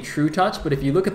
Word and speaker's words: trutaCz: saying true touch well apparently apparently in Polish that says true touch that's that's the reason I don't know I mean uh yeah basically I I started pronouncing it true tax and then I was told that it's actually true touch so that's what I'm going with I think I've actually